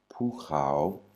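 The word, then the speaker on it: ภูเขา: Et au milieu, on a krokrai. Donc, ça se lit, cette syllabe se lit krao. Et donc, ce mot se lit pukrao, qui veut dire montagne.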